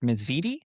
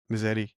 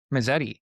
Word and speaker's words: Mezzetti: Uh, is it pronounced Misiti? Misetti. Misetti.